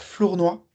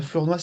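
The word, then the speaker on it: Flournoy: suisse qui s'appelle Théodore Flournois. Euh Florenoise, s'écrit F L O U R N O Y et euh c'est un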